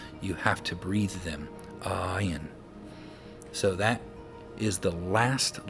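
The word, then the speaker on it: עין: So even the Hebrew letter itself, the name of it, forces you to say ayin. I can't say it without saying ah.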